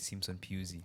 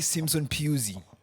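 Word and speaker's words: Simpson-Pusey: how he's proud so he pronounced it Simpson PE but there was also those videos for Premier League players saying their names he was in that video yes he said J jamai Simpson pey now you guys I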